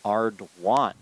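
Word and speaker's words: Arduin: We have received something in the chat about the pronunciation. It is Ardwan.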